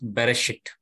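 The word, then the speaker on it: בראשית: In the Genesis, in some versions, if you see, the word starts with Bereshit. It starts with Beth. But before Beth, Aleph is written in green color because it is a silent letter.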